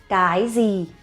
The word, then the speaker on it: cái gì: The next one, cái gì?